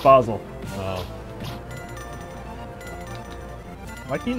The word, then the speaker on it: Basel: you're sleeping in Canada basil it's pronounced Basel oh why can you